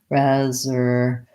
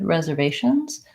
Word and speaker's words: reservations: so in this word we have third syllable stress reservations I want to lengthen on the vay we have vowel up in the beginning like in red red reservations Reserve this s says